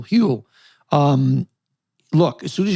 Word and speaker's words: Huel: want to talk about huel h-u-e-l rhymes with fuel hewl um look as soon